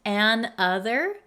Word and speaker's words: another: one word another another and even the pronunciation is a little bit different than if you were to write an other and other and another can you hear the difference in pronunciation and how you would